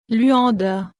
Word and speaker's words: Luanda: Luanda, se prononce Luanda, anciennement Esatile-de-Haut-Podazasu-1 Satil-de-Haut-de-Loanda, est la capitale de l'Angola en Afrique australe.